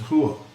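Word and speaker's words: 花: at this character and it really means flower but it's pronounced whoa just like this clip from a chinese woman saying doesn't sound exactly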